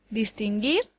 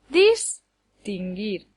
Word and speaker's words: distinguir: acento prosódico por ejemplo distinguir lleva el acento en la última sílaba dis gir no puede llevarlo en ninguna de las otras dos porque daría lugar a palabras que no existen distinguir o distinguir la sílaba que recibe el